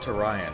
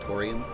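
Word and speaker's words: Tourian: just like music is to Ryan from Super Metroid right I don't have a they actually intend that to pronounce to Ryan I like it I've always called it Torian and that's yeah yeah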